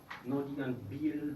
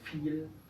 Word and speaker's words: viel: La V es como la F. Muy fácil la regla. No digan Biel, Verbot o Vorname. Es viel, Verbot, Vorname.